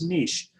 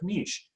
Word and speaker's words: niche: Okay, moving on to the second step is niche, so, or niche, however you want to pronounce it. I pronounce it niche in this country.